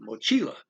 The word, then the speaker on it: mochila: don't follow the rule you got mochila backpack as vinay so i put the x automatically i highlight the second to the last syllable which is the most common thing mochila nas on the backs